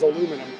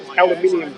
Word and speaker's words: aluminium: The body is aluminum. Aluminium.